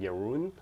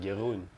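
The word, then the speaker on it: Jeroen: you say yes sir sometimes i try to say your name in english it then it sounds really weird because it's like yaroon but i should just pronounce it like the dutch way like gerund that's how it is so let's see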